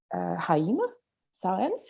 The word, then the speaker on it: Jaime Sáenz: He has translated mostly Mexican women poets, including Coral Bracho, but also, for instance, the Bolivian author Jaime Sáenz, is that the right pronunciation?